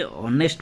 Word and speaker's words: honest: Option A, ही इज ए ऑनेस्ट मैन। ठीक है, ऑनेस्ट pronunciation क्या हो रहा है?